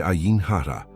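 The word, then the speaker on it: עין הרע: E o nome dela é Ain Hara. Escute a pronúncia a U N.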